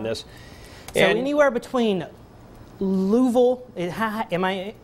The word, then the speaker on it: Louisville: And so anywhere between Louisville, am I pronouncing that correctly?